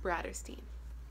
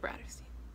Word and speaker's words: Bratterstein: If you've never been to my channel before, hello, my channel name is pronounced Bratterstein. Like Catterstein, but Bratterstein.